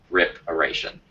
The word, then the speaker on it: Rip-Oration: It's spelled like reparation, but with a rip. Rip-Oration.